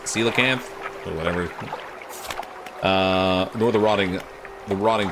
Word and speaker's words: coelacanth: I haven't gotten the Goliath tigerfish or the, apparently this is pronounced coelacanth, or whatever.